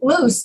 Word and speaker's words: loose: that's a common issue one of them sounds like an s and the other one sounds like a z so we call those unvoiced consonants and voiced consonants which means the first one loose can you see my